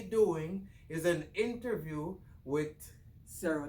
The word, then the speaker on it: Cero: So yeah, but Cero, we call it Cero, but it's actually Cero. Cero as in zero in Spanish.